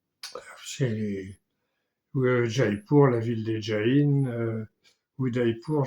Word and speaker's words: Jaipur: Bon, alors maintenant on dit pour, puisque je l'ai dit tout à l'heure, il prononce plus le dernier A, Jaipur, Udaipur, etc. C'est Jaipur, la ville des Jains, Udaipur, je ne sais pas.